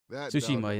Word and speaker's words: Tsushima: Tsushima, yeah, it got me hooked.